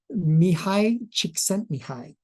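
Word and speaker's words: Csikszentmihalyi: first of all we gotta learn how to pronounce his name his name is Mii chent Mii and I've practiced that a couple of times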